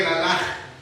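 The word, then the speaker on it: קְלָלָה: Que laalaj. Así como se escucha que laalaj.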